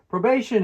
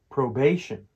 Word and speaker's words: probation: Probation is when someone gets out of prison or jail, but still has to play by the rules under supervision. It's pronounced probation, with the stress on the second syllable.